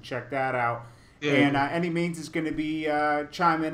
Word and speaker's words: Annimeanz: It's Annimeanz, and it's pronounced Annimeanz.